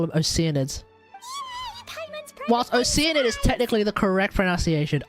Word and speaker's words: Oceanid: Here, take 2 Oceanids. bottles for free. I was about to call them Oceanids. Paimon's private Whilst friend Oceanid is technically the correct pronunciation, Oceanid is the way I'm pronouncing it.